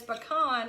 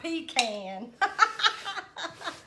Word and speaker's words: pecan: So I'm assuming that everybody's in the agreement that it's pecan and not pecan.